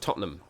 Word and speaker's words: Tottenham: It's pronounced Tottenham, believe me.